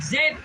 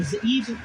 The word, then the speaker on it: Zeeb: Make their nobles like Or and like Zeb, or Zeeb, depending on how you pronounce it.